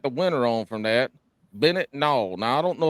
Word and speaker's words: Bennet: have a w in there somewhere yeah I pronounce that right Bennett oh you nailed it no there we go